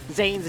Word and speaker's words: Zain: Why are they saying Zain's name funny? Well, that's actually how it's pronounced.